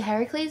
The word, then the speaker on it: Heracles: that children of Heracles which is actually Heracles not Hercules which is wild but